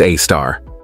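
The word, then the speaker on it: Sagittarius A*: The Milky Way's central black hole is known as Sagittarius A, pronounced A-star.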